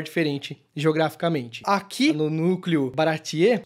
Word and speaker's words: Baratie: Que eu, nesse meu parco conhecimento, sem assistir o anime, na minha cabeça eu sempre pronunciava Baratai. Não, é Baratier. Ele vai, mesmo em japonês eles falam Baratier.